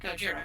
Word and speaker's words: Gojira: AKA uh uh go Gojira yeah well because it's the Japanese they still call it Gojira yeah oh I I know they pronounce it Gojira but I still find